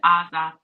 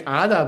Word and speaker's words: Asa: A-S-A. Asa. A-S-A. Yeah. Asa. Asa. You say it like Ada, but A-S-A. Basque.